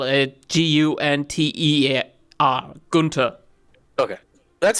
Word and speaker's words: Gunther: It is basically the h is silent in German most of the time if it's in the middle of something. Okay. So you would spell it Gunter, Gunther.